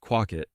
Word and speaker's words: Quawket: Pursley of Quawket, commonly pronounced Quawket, looked out of his